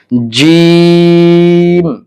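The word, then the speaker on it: جيم: তারপরের অক্ষরটি রয়েছে জিম। এই জিম জিম উচ্চারণ করতে হলে আপনাকে জিহ্বার মধ্যখান তালুর সঙ্গে লাগাতে হবে, অর্থাৎ জিহ্বার মাঝখানটা আপনাকে তালুর সাথে লাগাতে হবে, তাহলে জিম উচ্চারণ হবে। যেমন জিম জিম জিম।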